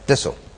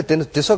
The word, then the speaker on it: Tissot: I call it टिसो, बट आप कुछ बता रहे थे कि फ्रेंच जो कहते हैं वो क्या कहते हैं? No, the French pronunciation is Tissot.